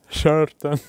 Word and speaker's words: шартан: in love there is one national dish called shartan. "Sheartan" Angelica tells you behind the scenes how pronounced correctly.